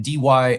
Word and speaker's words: DYLI: It's pronounced dilly.